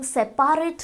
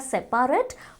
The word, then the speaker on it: separate: इट्स SEPARATE, बट हम सेपारेट नहीं कहते हैं. We don't say इट एज सेपारेट, we call it सेपरेट, बट इन the spelling form it इज SEPARATE, सेपरेट.